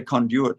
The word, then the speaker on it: conduit: saw the way that conduit I say it differently to you Americans uh you say conduit don't you what do